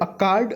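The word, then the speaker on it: accord: अकार्ड लिखा हुआ है, ये देखिए जो आर है ना ये साइलेंट होता है, आर के पहले जब वावेल आता है। तो यहाँ पे लिखा हुआ है अकार्ड।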